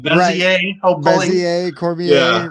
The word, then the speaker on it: Bezier: And George J. Cormier that rhymes with Bezier.